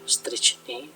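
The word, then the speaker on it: Strychni: Kemudian CH dibaca H jika diikuti huruf mati ya. Strichni, jadi bacanya strichni ya.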